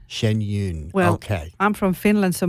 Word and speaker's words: Shen Yun: you I realized that I perhaps have been pronouncing it incorrectly it's Shen Yun Shen Yun Shen Yun okay I'm from Finland so my my my